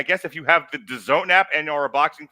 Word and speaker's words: DAZN: if you go to the DAZN, which rhymes with calzone app, it's in the frame.